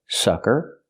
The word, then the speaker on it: sucker: have these two words sucker is the first word closed and relaxed s s sucker and the second word is soccer open ah soccer the name of the sport